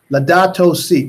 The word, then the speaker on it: Laudato Si: L-A-U-L-A-D, well, how do you spell it? L-A-U-D-A-T-O space S-I. No, Laudato Si.